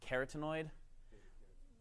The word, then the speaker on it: carotenoid: I think the American pronunciation is carotenoid. Like beta carotene, yeah.